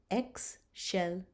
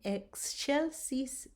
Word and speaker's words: excelsis: So in the word excelsis, do you see that the C is falling between the X and the E? So we're going to pronounce it sh, excelsis. Gloria in excelsis Deo.